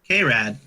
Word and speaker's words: Krad: Vincent and a rad krad red okay like calm rad but without the on it's literally the same number of syllables yeah I was trying